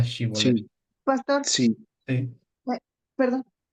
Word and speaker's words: Shibolet: Entonces, por no pronunciar bien Sibolet, que era Shibolet.